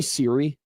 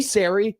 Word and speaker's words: Siri: But now he just keeps, hey, Sari, hey, Sari. So he knows it's Siri.